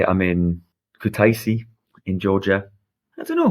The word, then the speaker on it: Kutaisi: Now I'm going to feel bad if I pronounce it wrong. Kutaisi. It's Kutaisi, the third biggest city in Georgia.